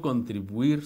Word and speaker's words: contribuir: Y el verbo contribuir se pronuncia así, diptongando la U con la I, distribuir. Muchos dicen distribuir, como rompiendo el diptongo. No se rompe ese diptongo.